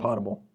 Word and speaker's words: potable: Potable.